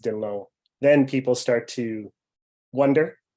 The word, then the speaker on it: Dhillon: Yeah, that's a great question, because Dhillon is definitely a very Anglo-Western name, but until people see the spelling of Dhillon, which is correctly pronounced Dhillon, then people start to wonder a little bit different about that.